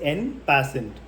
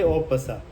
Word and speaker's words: en passant: in English you can write read it as n passent but in French you say opa so Opa is a rule for point so